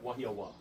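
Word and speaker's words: Wahiawā: W, when it starts a sentence or a word, is usually pronounced like a W.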